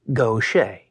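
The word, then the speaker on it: Gautier: shared his name, and both were pronounced Gocha.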